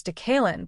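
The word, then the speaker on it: DeKaylin: He has told Steelers Audio Network play-by-play announcer Rob King that he prefers Decalen but understands many do not pronounce it correctly, so he instead goes by DK.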